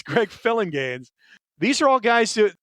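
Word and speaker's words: Phillinganes: And it's pronounced like it looks. Greg Filling Gaines. I' I've always seen that name and wondered is it Filling Gaines, Felinganese? It's Greg Filling Gaines.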